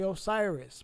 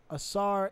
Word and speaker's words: Asar: was the son of assar when they say Osiris but I'm going to be correct with it Asar and asset which is